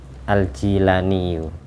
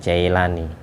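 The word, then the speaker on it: al-Jilani: Abdul Qadir Jailani diceritakan yang benar itu bacanya aljilaniyu bukan Jailani yang benar aljilani sama seperti alqilani nama sebuah Kampung kelahiran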